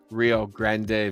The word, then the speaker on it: Rio Grande: Rio Grande Valley.